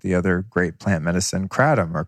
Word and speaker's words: kratom: other great plant medicine, kratom or kratom. A lot of people pronounce it different ways. I learned from a person from Thailand, they call it kratom.